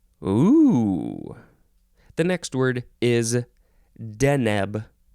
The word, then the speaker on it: Deneb: the next word is deneb or denub capital d e n e b deneb noun from Circa